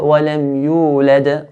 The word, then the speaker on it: وَلَمْ يُولَدْ: No, the qalqala that is forced sukoon at the end will be stronger than the qalqala that has an original sukoon in the middle of an ayah. So what does this mean? This means the first dal, we don't make it as strong as the second dal.